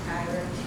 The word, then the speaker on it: Takira: First of all, I'd like to say, pronounce my name Takira.